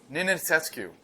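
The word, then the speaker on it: Nenițescu: Nenetscu, which I also don't know how to pronounce, apparently. What is it? Nick, what is it? Nenetscu.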